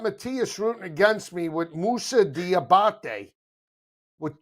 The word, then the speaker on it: Musa: Musa's a guy I've never heard of. Now I know how his name is pronounced.